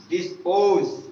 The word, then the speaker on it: dispose: Next line, dispose, dispose, d से da, i से e, s से सा, p से पा, o से o, s e का उच्चारण जा हो जाएगा। डिस्पोज, क्या पढ़ेंगे?